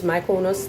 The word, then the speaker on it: Mykonos: I think it's Mykonos, that's how it's pronounced in Greece.